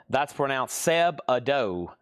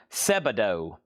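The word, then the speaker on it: Sebadoh: then that is a $10 start, and that's pronounced Seb-Ado. Seb-Ado.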